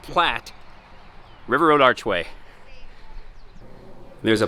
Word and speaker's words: Platte: all right well here we go the great platte river road it's not plate it's pronounced platte river road archway there's